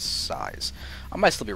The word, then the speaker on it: sYz: up against blast size I believe he pronounces his name size I I don't think it's SZ or Sy yzm I'm 99.9% certain that it's size I might still be